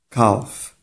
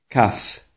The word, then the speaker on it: calf: Calf. Calf. To jest błąd. To jest nieprawidłowa wymowa tego słowa. Słowo to powinno wymawiać się w następujący sposób. Calf. Calf.